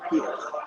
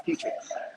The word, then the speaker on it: Petrie: that when it's spelled like that, some people have told me that it's Peter, but it's Petrie.